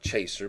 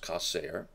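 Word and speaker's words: חסר: It looks like chaser, but it's pronounced kaser.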